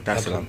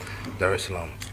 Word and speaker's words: Dar es Salaam: Did I pronounce that right? Yeah. Dar es Salaam. Okay, cool. Dar es Salaam.